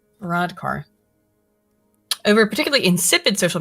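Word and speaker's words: Varadkar: varar over a particularly Vadar yeah I pronounce that wrong it's another Indian verodar over a particularly insipid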